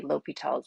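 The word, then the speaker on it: L'Hôpital: and learn l'hopital's rule sometimes this is spelled it looks like a law hospital but you still say l'hopital's rule okay so we're going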